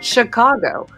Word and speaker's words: Chicago: pronounced with a sh, just like the famous town Chicago, where most people mispronounce this as Chicago. It should be sh, like sto. 3 is enough.